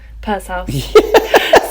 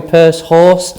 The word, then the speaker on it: Pursehouse: can you can i did i say your name right purse house panic says i don't know how you could say it wrong a lot of people i've had a few people call me purse horse and one guy called me pure horse once i quite like you